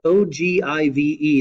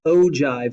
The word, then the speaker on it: ogive: The last graphical display that we have here for quantitative data is called an ogive, O-G-I-V-E. That's pronounced ogive, not ogive, but an ogive.